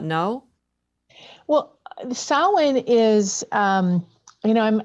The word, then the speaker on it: Samhain: so anything that's still in the field after samhain um it's spelled like samhain but it's pronounced samhain uh anything left in the field after this